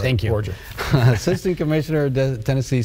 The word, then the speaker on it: Borger: Am I pronouncing that correctly? Borger, yeah, good. Right. Thank you. Borger.